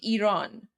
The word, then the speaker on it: Iran: Guys, it's literally pronounced Iran. Like you can just say Iran.